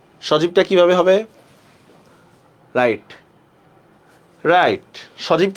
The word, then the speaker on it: সজীব: সজীব কি হবে? খুবই ইজি, দেখেন তালব্যস্য জরস্কার জি বহসন্ত, সজীব।